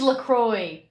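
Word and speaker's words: LaCroix: It is Lacroy.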